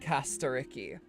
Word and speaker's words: Castorice: I'm sure they did research and everything, but if that's what the guy from Greece is saying, then I'm going to say it like Caster Ricky.